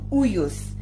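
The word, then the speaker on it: υἱός: But God has called us to be uyos, which is spelled as U-I-O-S. U-I-O-S. It's a Greek word.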